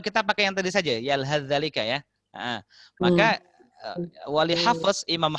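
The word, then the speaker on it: يلهث ذلك: Jadi maka kalau ada perjumpaan, contoh di sini ada yalhath dzalika, maka akan dibaca, cara bacanya adalah langsung masuk ke zal. Sa macam tak ada.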